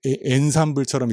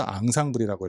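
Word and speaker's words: ensemble: 이게 엔삼블처럼 읽어 보이지만 실은 프랑스에서 온 단어라서 앙상블이라고 읽고요.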